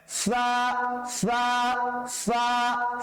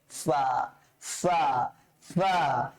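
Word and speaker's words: فاء: এই ফাটা উচ্চারণ করার জন্য কি করতে হবে? নরম করে উচ্চারণ করতে হবে, বাতাসটা বের হবে।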